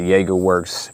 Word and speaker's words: Jagerwerks: That's how you pronounce it, the Jagerwerks.